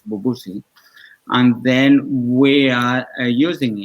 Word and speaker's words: Bubusi: the tip on hands which is a pronunciation that would be in English as bubu see and then we are